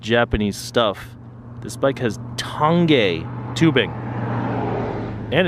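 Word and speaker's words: Tange: and while we're on the subject of commonly mispronounced Japanese stuff this bike has tongue gay tubing and it's made in Japan that's impressive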